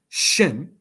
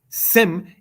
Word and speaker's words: Shem: Shem is the Hebrew word. Sem is the Greek transliteration of such. Since Greek does not have a sh sh syllable, it is thus in metathesis said as sem.